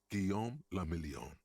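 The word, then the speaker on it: Guillaume Le Million: meant only one thing guillaume lamillion if it doesn't rhyme you're not pronouncing it right out of the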